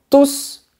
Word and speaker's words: tous: Attends, mais pourquoi est-ce que je prononce la lettre S? Ils vont tous manger des croissants.